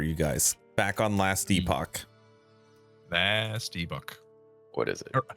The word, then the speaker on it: Epoch: guys back on last epoch vast ebook what is it I'm sorry epic we've been saying it like a bunch of dirty heathens the Epic they call it Epoch I don't care that